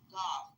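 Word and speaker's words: Gauff: her last name is golf it's not really actually golf but it sounds like the word golf but it's g a u f something like that.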